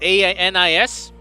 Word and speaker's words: Anis: Anis, it's spelled A-N-I-S, written read Anis, the mysterious Protos Killer named as the one behind this, appears right in front of your eyes.